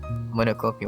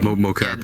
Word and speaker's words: Mocopi: but the new one, the Monocopi one, how do you say it? Monocopi. Yeah. Mocopi that or one- Mocopi or whatever, yeah.